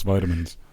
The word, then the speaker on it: vitamins: say it like that in American it's vitamins well it was originally a port Monto of vital aminos so vitamins yeah but for some reason like the UK English likes to say vitamins they